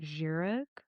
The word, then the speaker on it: Kjerag: fan of the normal, I believe you pronounce it Jurag shoe, but it's spelled like Kjerag.